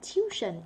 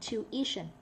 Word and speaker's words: tuition: Tuition. Not tuition. Tuition.